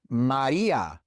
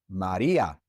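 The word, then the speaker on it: María: It's the same in Maria. Without the accent mark above the I, it wouldn't be Maria. It would be Maria. But we don't want it to be Maria.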